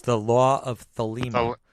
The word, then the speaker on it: Thelema: It's the law of Thelema. Thelema.